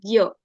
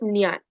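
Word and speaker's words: ज्ञ: And then lastly, whenever we see this combination J, N, and above N there is a small wavy line, it will be pronounced as Gya, as in Gyan, or it can be also pronounced as Nyan.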